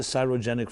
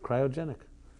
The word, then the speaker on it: cryogenic: of old not the cyrogenic freezing or other whatever it's called is that how you pronounce it you know people huh cryogenic cryogenic okay like the word cry okay what I say